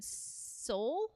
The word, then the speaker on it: Seoul: I believe in Seoul.